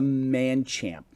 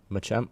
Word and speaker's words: Machamp: 645 one of the E Evolutions mine's a man champ Machamp Machamp thanks I have a a Taurus I